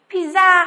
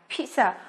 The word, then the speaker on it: pizza: Chúng ta lưu ý là các em không được phát âm là pizza hoặc là pizza nhá, mà nó phải là pizza. Đây là từ có nguồn gốc từ Ý, cho nên chúng ta tôn trọng cách phát âm của người Ý.